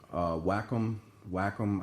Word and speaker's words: Wacom: I've actually picked up a tablet, Wacom. I guess that's the way it's pronounced.